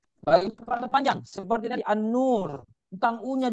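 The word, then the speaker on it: النور: Jadi tulisannya An-Nur, memang bacanya An-Nur, tetapi coba lihat hurufnya An-Nur. Alif dulu, baru lam, baru nun. Jadi harusnya pakai al. Walaupun nanti bacanya An-Nur, ya, dan seterusnya.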